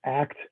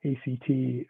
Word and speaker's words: ACT: couple of basics so uh the acronym is act act stands for uh acceptance and commitment therapy